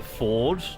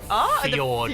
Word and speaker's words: fjord: I'm going to go 2 votes for the ford. Fjord. The fjord. Yeah, because it's spelt fjord, but it's called a ford, right? But it's think it's a spelled fjord. fjord.